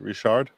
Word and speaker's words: Richard: Is it pronounced Richard in French? Richard? Oh, it would definitely be Richard. Yeah. With a hard R, a hard R.